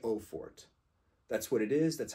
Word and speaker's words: Eau Forte: please stop pronouncing it Forte stop just stop pronouncing it Forte it's not Forte it's not Forte there's no accent over the E it's not Forte do